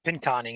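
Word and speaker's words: Pinconning: pin coning again yep pin coning is how it's pronounced I'll never remember it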